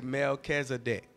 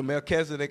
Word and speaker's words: Melchizedek: summarize king and priest, and we just say Melchizedek. That's a part of the high calling of God. And so all these other pieces are just kind of really components of the one. Okay, so Melchizedek, and I spell that for those of you